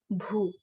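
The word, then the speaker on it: भू: Okay, the pronunciation is Bhu. Okay, Bhu.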